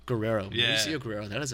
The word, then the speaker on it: Guerrero: Guerrero. Guerrero.